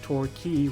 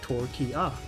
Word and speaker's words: Torquay: Like, I only learned last week that Torquay was in fact Torquia.